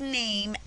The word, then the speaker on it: name: When Shane wrote, "Hi, my name is Shane," Shane spelled name N-A-M, and those are all the letters that I hear in name, but there's a letter that you don't hear.